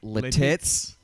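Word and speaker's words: Lititz: I think it's pronounced Letitz, but I've heard people pronounce it Letitz. Like French for the tits.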